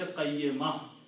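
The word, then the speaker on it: قيمة: When you stop, you say qayyimah. Okay? They don't pronounce the ta marbuta with the two noons, to sukoon there. I mean to tanween, to dhammas. So it will be qayyimah. Okay? But when you read it full, you have to pronounce qayyimatun.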